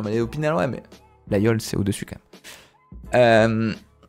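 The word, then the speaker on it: Laguiole: partout excuse-nous la Yol ça se prononce la yo alors ceux qui prononcent la gueule c'est que vous n'êtes pas avonis malheureusement et en grandi 20 3 ans en avéron je sais prononcer les villes de mon département je sais on va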